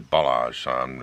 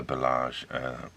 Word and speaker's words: Balázs: Now, I'm not sure how to actually pronounce that. Google says Balázs.